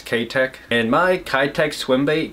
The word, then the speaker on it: Keitech: my area that sells kai tech or k-tech if you're from japan i know in the us we pronounce it kai tech but i guess technically it's ktek and my kai-tek swim